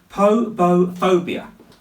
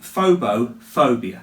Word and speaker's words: phobophobia: fear of fear is called poo phobia so it's actually phobo phobia that's how it's said so what is the